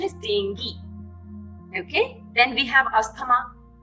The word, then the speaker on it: dengue: The correct pronunciation is dengue.